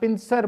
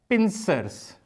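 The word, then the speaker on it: pincers: तो एग्जैक्ट इसकी प्रोनाउंसिएशन है पिंसर्स। एग्जैक्ट वर्ड एस लगा के बनेगा, जिस तरह इधर एस लगाया है इस तरह इधर भी, क्योंकि दो हिस्सों पर है। तो एग्जैक्ट वर्ड है पिंसर्स, पिंसर्स, पिंसर्स।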